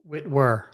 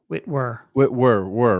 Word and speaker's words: Whitwer: Whitwer. Whitwer, right? Yeah, W-E-R. Yep.